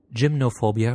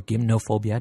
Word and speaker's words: gymnophobia: with an angle on gymnophobia or gymnophobia, depending on whether you want to put the Greek pronunciation to it, which is defined as the fear of nudity.